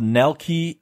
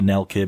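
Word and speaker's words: Nelke: for a reveal of Nell key and the legend Nell K probably probably Nell care because it's probably a German German pronunciation and the legendary Alchemist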